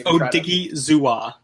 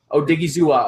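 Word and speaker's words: Odighizuwa: So I think it's Odigizua. Odigizua. Okay, Owa Odigizua.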